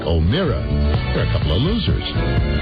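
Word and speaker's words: O'Meara: And Mike O'Mara. The name is spelled O-M-E-A-R-A. Mike O'Mara.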